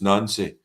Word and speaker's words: Nancy: If anybody's been like, "Oh, what are you calling him nonsy for?" There's no that's that why are we calling him it's Nancy people people can call him